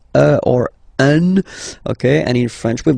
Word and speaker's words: un: without any doubt, but you've got to pronounce it like un. So it's what we call the nasal, so it goes in your nose. Okay, un. So if you listen to me, you don't hear any N.